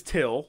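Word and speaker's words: Thgil: And so, like, there's Till. Till. And then he spells it. He spells it T-H-G-I-L. But it's pronounced Till.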